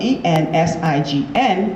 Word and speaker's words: ensign: And ensign is spelled E-N-S-I-G-N, but it's pronounced N-S-U-N, ensign.